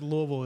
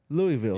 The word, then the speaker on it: Louisville: He also says Louisville is Louisville.